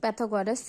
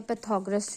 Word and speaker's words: पाइथागोरस: theorem लगा सकते हैं पैथ गोरस थ्योरम या पाइथागोरस थ्योरम प्रोनाउंस दोनों वर्ड कर सकते हैं तो बाय पाइथागोरस